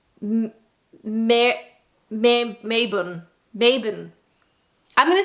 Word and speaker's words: Marylebone: So in my heart, as a North American speaker, I want to say Marylebone. But a lot of times Brits like to drop syllables off of places, off of names and things. So if I was going to take a punt at this one, I'm going to say Mabon.